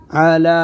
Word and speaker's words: على: जोर से पढ़ो शाबाश अला इसमें या साइलेंट आगे जी क़ल्बिक बिइज़्निल्लाहि